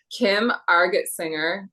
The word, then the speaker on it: Argetsinger: I'm so excited to be talking to Kim Argetsinger.